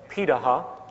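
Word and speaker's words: Pirahã: We know this today because of anthropological research done on remaining hunter-gatherer societies around the world, such as the Pitaha, which is how it's pronunciated, out of Brazil.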